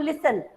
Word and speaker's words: listen: और जैसे लिसन, जब मैं बोलती हूँ लिसन, तो लिसन की स्पेलिंग तो LISTEN होती है ना, लेकिन मैं क्या बोल रही हूँ, लिसन, T को प्रोनाउंस नहीं कर रही हूँ।